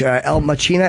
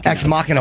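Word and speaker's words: Ex Machina: comedian friend of mine told me to watch El Machina. Is that how you say it? X Machina.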